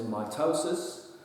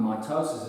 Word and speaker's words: mitosis: this first one is mitosis and I've spelled it out sort of phonetically here underline the toe so that you can